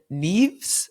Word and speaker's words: Neaves: We're here with Lauren Neaves. Is that how you say it?